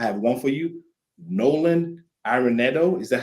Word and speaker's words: Arenado: Nolan Arenado.